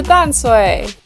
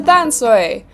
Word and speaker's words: Tamsui: But in 2011, the spelling was changed from D-A-N-S-H-U-I to T-A-M-S-U-I, which more closely resembles the Taiwanese language pronunciation of the name.